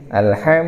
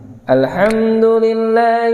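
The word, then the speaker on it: الحمد لله: atau tidak Alhamdulillah gitu Ilham harusnya alham Alhamdulillah Hirobbil alham alham alham alham masih banyak Allah arah Kenapa itu namanya kalau kita baca Masha bacanya masih arah atau bacanya Arham itu suara kita menjadi imarah apa Itu malah miring seperti x pada bukan eight bukan alham alham apa yang kurang yaitu kurangnya membuka rongga mulut ketika baca ya kurangnya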